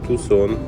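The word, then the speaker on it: Tucson: вже в прекрасному місті Тусон Арізона До речі правильно вимовляти Саме так чому саме Так я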